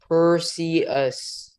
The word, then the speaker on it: Perseids: If you want to pronounce it correctly, it's Perseids.